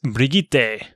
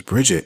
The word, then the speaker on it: Brigitte: How do you say it? I believe it's Brigitte. Oh, really? Yes. Brigitte. Right, yeah. Okay. Even I have to second guess is it the right pronunciation? Because I think I've heard it a couple different ways, but that's sort of it. It's Brigitte. I thought it was Bridget.